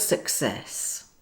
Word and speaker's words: success: Look at the word success, success. It's the same rule for the hard and soft C. The first C is followed by another consonant, C, and the second is followed by the vowel E.